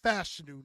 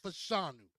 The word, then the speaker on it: Fashanu: panu oh I'm sorry Olu fashanu is pronounced fashu not fashanu 6631 17 from Penn